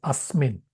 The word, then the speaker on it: asmin: It says asmin. Although the A is not written, the apostrophe in Sanskrit refers to A.